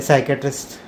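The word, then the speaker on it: psychiatrist: वेगळंच होतं मग ते सायक्याट्रिस्ट मम्मी नाही ते पी सायलेंट असतं ना त्याच्यामध्ये सायक्याट्रिस्टमध्ये मला कधीच कळत नाही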